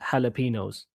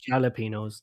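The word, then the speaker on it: jalapeños: for example, I think in Mexico they say like jalapenos. And then here in England, they say jalapenos. They just kind of like just adopt it. J is silent.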